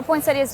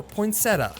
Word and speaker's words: poinsettia: One other misconception the dwartes like to point out is the pronunciation of the plant. Poinsettia or poinsetta. Either way. Either way. Either way.